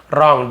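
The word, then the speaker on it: wrong: यानी कुछ गलत है रंग डब्लू साइलेंट होता है रंग जैसे रिंग होता है राइट होता है डब्लू आर से स्टार्ट होता है बट डब्लू साइलेंट लेटर है ना रंग समथिंग इज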